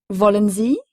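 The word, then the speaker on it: wollen: fois le W allemand se prononce comme un V français voulez-vous Z S majuscule I e signifie vous il est employé pour parler à une ou plusieurs personnes que l'on vous voit Volen c'est donc voulez-vous comme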